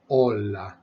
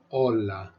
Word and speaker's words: hola: twist on the language the H is always silent so every time you see it you need to pretend you're not seeing it and don't pronounce it hola hola Hermano Hermano hermana hermana